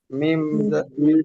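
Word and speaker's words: ميم: মিম যেন কিভাবে উচ্চারণ হয়? Mim. ঠোঁটের শুকনো অংশ একসাথে করে মিম উচ্চারিত হয়।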